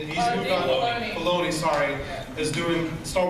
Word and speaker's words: Filoni: David Fillion, right? That's how you say it? He's moved on. Filoni.